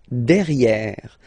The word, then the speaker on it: derrière: So if you look carefully, you've got E here and then double R, so it will open the sound of this E, and you should pronounce it E, okay? Derrière. Same thing here. You've got this E accent grave, E. Derrière, okay? Don't pronounce the final E.